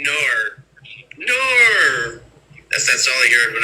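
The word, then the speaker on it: Knorr: Nor. That's all I heard when I was dating this one Australian girl. She's like, nor. I'm like, it's not nor, it's no.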